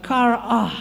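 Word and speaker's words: χαρά: Cara, C-H-A-R-A, bacanya adalah kar'ah, saudara. Kar'ah.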